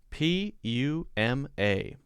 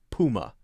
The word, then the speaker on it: Puma: I've always called this Puma. Poo instead of pew.